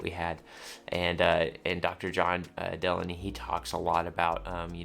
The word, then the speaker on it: Delaney: John, now I'm going to pronounce his name correctly this time, Delaney.